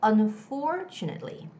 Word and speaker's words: unfortunately: is difficult okay well you have to put the stress on that syllable where there's for it's on for it's not two it's more like two like the choo choo train so it's unfortunately unfortunately okay so don't say